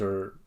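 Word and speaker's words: eau: water I just mentioned, E-A-U, pronounced O, right? G-O-D-O-T, Godot, is God, English word God plus E-A-U.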